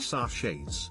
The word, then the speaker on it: sachet: cup of this tea i think sachet rhymes with hatchet so we're at a